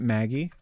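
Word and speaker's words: Maguy: So does that mean I'm I should be pronouncing it Maggie?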